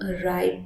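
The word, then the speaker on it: writhe: इसको हम राइट बोलते हैं, ठीक है? तो इसका मतलब होता है ट्विस्ट करना और हम इसको राइट बोलते हैं. W जो है इसमें साइलेंट होता है.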